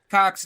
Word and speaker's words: Cocks: Yeah, wait, Cox. It's like spelled like COCKS, right?